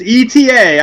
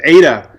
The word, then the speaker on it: Eta: know well it's it's eta i guess i screw it up like i do every other name it's it the pronunciation is ada i see i think that's correct but it's eta um so the joke